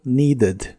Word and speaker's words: needed: Y los verbos regulares de inglés que en el presente terminan con el sonido T o D, en el pasado la ED que se les agrega se pronuncia como ED, pero con una E muy suave, como wanted o needed.